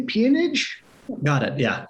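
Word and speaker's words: peonage: uh I'm not going to be able to pronounce it right P ponage got it yeah ponage so maybe you could speak a little bit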